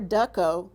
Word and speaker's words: duco: Next, we have duco or duco, depending on how you say it, which means to lead or bring forward.